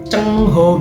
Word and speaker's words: Zheng He: Ho, akhirnya jadinya C Cheng Ho gitu. Zheng He aslinya kalau nggak salah ya, Zheng He, tapi dibacanya Cheng Ho.